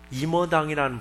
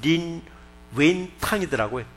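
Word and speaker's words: 林語堂: 중국의 임어당이라는 분, 1976년도에 이제 사망하신 분이죠. 그분의 중국 발음은 린 웬탕이더라고요. 근데 그것을 한문으로 써놓고 임어당이 돼버렸어요.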